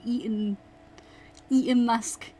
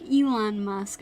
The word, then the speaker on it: Elon Musk: I almost said Eaton Musk. Funny. Yeah, no, I myself do not care for Ethan Musk. Ethan Musk? Elon Musk. Oh my god, I keep saying his name wrong.